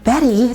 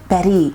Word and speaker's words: Bette: Betty at this point is spelled B E T Y, but they would change it to B t, which with my Canadian duolingual upbringing, I can't stop saying as bet in my head the first time.